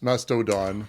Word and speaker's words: Mastodon: I found out several times that Mastadon is spelled with an O on the end or masto on the end madono M Mastodon Mastodon Mast that's not Mast I always think